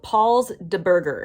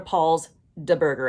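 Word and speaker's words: Paul's Da Burger: need to go to paul's de burger and yes it is spelled with a like with a d d a also side note all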